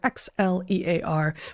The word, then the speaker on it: Xlear: That's Xlear, Xlear, pronounced clear.